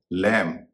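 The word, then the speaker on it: lamb: टू जिस तरह से किसी शब्द के अंत में एम बी हो तो बी का उच्चारण नहीं होता है।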